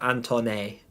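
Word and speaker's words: Antoine: And Anthony, but my Anthony's spelled with an E at the end, so Antone.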